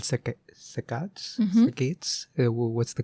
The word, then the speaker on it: saccade: So how do you pronounce? I say saccade.